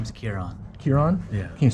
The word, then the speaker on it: Ciaran: what was your name again my name is kieron kiron yeah can you spell that for me it's c-i-a-r-a-n okay awesome that's